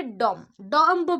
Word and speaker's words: dumb: करि पारबे आको कोन पडिबे डम डम पडिबे नी कौन पढ़े डम बी एटी साइलेंट रहिबो सो स्टूपिड फुलिश नहले डम he is a dumb man, he is a foolish man.